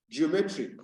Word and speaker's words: geometric: level there is stress in the word geometry geometric now we realize that the second syllable is stressed and the in the